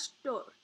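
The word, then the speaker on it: __str__: this string underscore underscore str underscore pronounced as store right so we can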